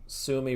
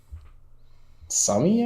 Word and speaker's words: Sumi: Sumi wrecked.